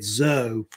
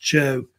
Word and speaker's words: Zhou: Some people say it Zhou. I think it's usually pronounced Chou, how they say it.